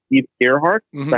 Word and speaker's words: Ehrhart: Steve Ehrhart. Mm-hmm. Is that how you pronounce that?